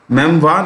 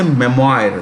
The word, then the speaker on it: memoir: collection of memories mem relates to memories okay memoir is the right pronunciation you can also say memoir that's also right there are two major pronunciations